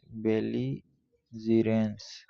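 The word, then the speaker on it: belligerence: root से आया है अगला वर्ड है बेलीजरेंस इसका प्रोनंसिएशन है बाल जरस बालि जरस जिसका मतलब भी मींस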